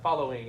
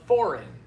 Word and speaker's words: following: Good. Three syllables. Yeah, following. I I heard uh foreign. Foreign a little bit. It's It's the L sounds.